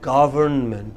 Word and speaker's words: government: It is government. What is it? Government. What is it? Government. Government. Government. Come, break it into syllables. Government. And put the stress on the first.